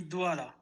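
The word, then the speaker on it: Douala: the pronunciation it's actually duala it's a economic capital of Cameroon and uh it's basically a French uh no no the the temperature but this is basically a French name so I understand that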